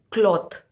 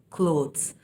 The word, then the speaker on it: cloth: So you say cloth to that one, and the dresses we wear are called clothes. The difference is in the pronunciation of the letters LO. So cloth, LO is pronounced as law, cloth.